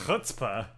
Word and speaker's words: chutzpah: and she was like oh that's pronounced hutzpah and it was like you say that again and she was like hutzpah i was like what is that what is that age sound I'd never heard it